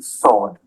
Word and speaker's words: sword: Five pence is one way that you can pronounce five pence. W as in sword.